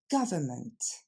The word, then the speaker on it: government: Ce sera donc pas gouvernement ou government, mais tout simplement government. Encore une fois, government. Et on va le décomposer ensemble. L'accent tombe sur la première syllabe, ga, ensuite c'est le son f, et enfin ment. Je vous ai mis le N, mais finalement on l'entend pas vraiment.